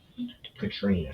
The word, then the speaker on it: Katrina: Katrina, that's how you pronounce it.